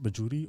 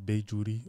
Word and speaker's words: Bajuri: the question above is the imam's name pronounced bajuri or beijuri or is both acceptable they're both because the actually refers to himself in both ways as well in his writings right so is it